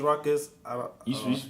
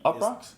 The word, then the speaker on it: Uproxx: that was always you it was ruckus that's how you say it up rocks yes you p r o